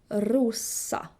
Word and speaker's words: Rosa: The S in Swedish is always hard. S. Never Z. Rosa.